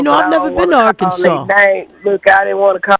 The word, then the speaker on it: Arkansas: I don't see a r ks a w, you know, Arkansas. I see sas or Kansas. So, what is the proper way to say it? Arkansas. No But yet, it's SAS or Kansas. I know it. I would have thought it would have had a SAW.